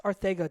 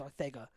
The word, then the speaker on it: Ortega: a while to get you said it's Artega technically that is the correct pronunciation it's Ortega but you know jjal